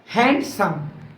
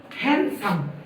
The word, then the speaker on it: handsome: তাহলে এটার উচ্চারণ দ্বারা হ্যান্ডসাম কিন্তু এই ওয়ার্ডটির শুদ্ধ উচ্চারণ হলো হ্যান্ডসাম এখানে ডি এর উচ্চারণ সাইলেন্ট থাকবে লেখার সময় আমরা অবশ্যই